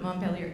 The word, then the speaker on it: Montpellier: I don't know how to pronounce it. Is that Montpellier?